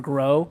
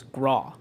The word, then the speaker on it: Graw: And I said, "No, it's because they wanted Turner Graw to be Turner Grow." Yeah. And I was like, "No, it's Graw."